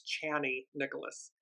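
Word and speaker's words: Chani Nicholas: is from channy Nicholas I I apologize I've been saying her name wrong it's channy Nicholas um incredible astrologer and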